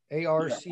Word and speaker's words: Arches: Excuse me, could you spell that again? I missed it. What, Arch? A-R-C-H-E-S.